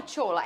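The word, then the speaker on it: Sola: Trein quem é o tchola é tchola mesmo que fala olha eu falo porque primeiro ele é nigeriano ele a o nome dele é assim que se escreve s o l a aí eu pronuncio dessa maneira é um atacante nigeriano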